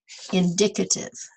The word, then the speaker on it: indicative: And the adjective, you don't pronounce it the same way, sort of like when we were saying demonstrate, but then it was demonstrative. This is the same way with the adjective indicative. Indicative.